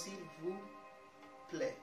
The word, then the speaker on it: s'il vous plaît: Whenever, like, some of the words that end with consonants in French, you don't really have to pronounce them. Okay. So this one goes, s'il vous plaît.